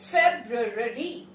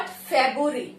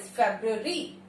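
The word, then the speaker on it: February: The correct pronunciation of this word is फेब्रुअरी. फेब्रुअरी, फेब्रुअरी. ठीक. फेब्रुअरी. ये वाला जो रो है, इस पे बहुत हल्का सा स्ट्रेस देना है.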